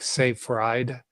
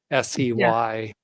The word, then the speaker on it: Seyfried: Thomas, it's spelled Seyfried. So like Seyfried, Seyfried. Fried eggs.